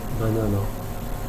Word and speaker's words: banana: Donc là, ça se prononce banana.